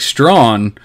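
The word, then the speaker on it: Strachan: not strong it's tracking either it's actually mike strawn um is how to pronounce his last name so like the fact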